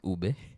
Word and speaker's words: ube: is pronounced ube.